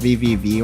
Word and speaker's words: VVV: I'm not 100% sure if it's pronounced VVV or pronounced Triple V, but the last time out when I was talking to good friends that knows the player personally, I think it's Triple V.